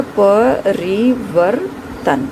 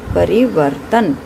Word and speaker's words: परिवर्तन: पे पूर्ण हो गया, वो के बाद किसकी ध्वनि है, र। लेकिन यह पूरी ध्वनि नहीं सुनाई आपको दे रही है, आधी ध्वनि सुनाई दे रही है, तो यह र जो है स्वर रहित होगा।